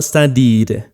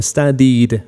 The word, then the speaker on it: studied: y en el pasado, studied. Miren que la E la estoy eliminando de la pronunciación, quedaría como studied, me paso a la D directamente.